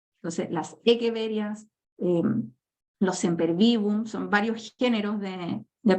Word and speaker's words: Echeveria: eso es lo otro los nombres en latín tienen otra pronunciación Entonces si uno por facilidad los tiende a leer como se escriben como echeveria pero no se asusten Si de repente ven o escuchan a un botánico una persona más especializada Y va a hablar de las echeveres porque la ch se pronuncia como una K entonces las egueverías son